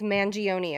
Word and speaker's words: Mangione: But when Luigi Mangione did exactly that, is it Mangione? I think it's Mangione. Maybe it's how does he pronounce It's so Italian. Mangione? Yeah, am I gonna get mad? Mangione. Am I gonna get some Oh, pennies in my comments? it's Mangione according to Mangione.